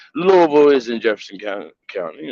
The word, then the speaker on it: Louisville: will address it as Louisville it is no s do not pronounce the s um and yeah that's